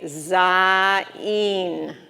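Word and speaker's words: זין: Then you're going to have the word Zayin. So this is a Yud. It says E, and this is the final Nun, which is going to say N. So you're going to say Zayin.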